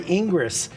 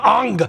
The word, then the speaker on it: Ingres: I want to go look at the painting by Ingress." And they're like, I decided to write it down on a piece of paper. They go, "You mean Ang."